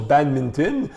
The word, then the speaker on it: badminton: On va apprendre à 4 heures après l'école que badminton se prononce badminton.